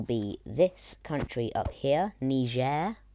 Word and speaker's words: Niger: this country up here Niger that's the proper way to pronounce it Niger um and then after